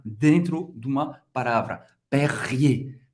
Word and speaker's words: Perrier: Perrier, Perrier, Perrier, ok? E R, geralmente, no final de uma palavra, se pronuncia E.